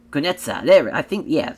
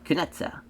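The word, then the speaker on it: Kunitskaya: As far as Yana though, as Yana Foxy, Kunetsa. Kunetsa. because like, I think that K is silent, if I remember correctly, is how the pronunciation for that.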